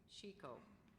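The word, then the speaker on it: chicot: Chico. Are there any alternate pronunciations?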